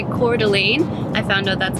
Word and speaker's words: Coeur d'Alene: finished my thought when I started to say Coeur d'Alene I found out that's how you say it